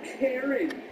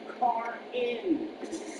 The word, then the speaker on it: Karin: It's not Karen. It's spelled Karin, which is car-in.